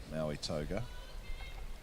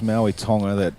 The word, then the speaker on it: Maui Tonga: Just a little bit of a false start there from Maui Toga. Oh. Toby's just corrected me there with the pronunciation. Yes, Maui Tonga.